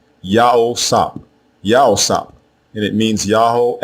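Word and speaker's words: יוסף: The name we commonly mispronounce as Joseph or Yosef is also spelled two different ways in ancient Hebrew. The first way is with the three letters Yah, Ha, and Wa as the prefix. The second way is with the two letters Yah and Wa as the prefix. Again, both versions are pronounced the same way, Yao-Sap, Yao-Sap, and it means Yahweh added.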